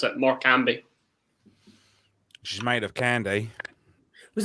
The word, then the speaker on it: Morecambe: That's how you pronounce it. Morecambe.